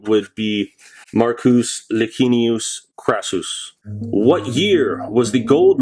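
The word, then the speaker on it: Marcus Licinius Crassus: down his throat was crassus probably the proper pronunciation would be marcus lagunius krasus what year was the gold mercury dime slq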